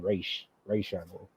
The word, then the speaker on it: Ra's al Ghul: So they were wondering like who the true Ra's al Ghul was going to be, or the correct pronunciation, Ra's al Ghul.